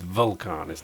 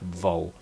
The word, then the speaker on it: Vulcanus: I'm told I'm saying it wrong all the time as well. It's Vulcanus, not Volcanus.